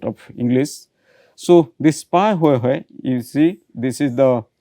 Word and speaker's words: Pahoehoe: So, this Pa Hoi Hoi, you see this is the pronunciation Pa Hoi Hoi.